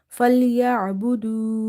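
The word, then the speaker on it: فليعبدوا: Fa lam fatha fal ya ain fatha ya fal ya ain is from the middle of the throat, same like ha. Ba dhamma bu, dal waw dhamma du. Falyabudu. Falyabudu. And this alif is extra, we are not reading it in recitation.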